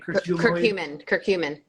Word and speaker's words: curcumin: Curcumin.